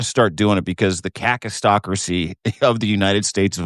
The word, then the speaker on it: kakistocracy: But you got to start doing it because the kakistocracy of the United States of America is in full force. You use it anytime, baby. I'm scared to mispronounce it. Just go hard on the A.